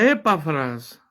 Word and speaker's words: Epafras: pone como ejemplo a epafras la e es una vocal acentuada por eso la pronunci así no tiene acento en la a cómo lo habéis aprendido